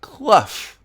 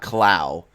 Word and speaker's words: Clough: It is I am Clough, not Clow.